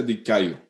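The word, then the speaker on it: δικαιόω: así que iniciemos inmediatamente el vocablo justificar es un vocablo griego que se pronuncia di callo es un término judicial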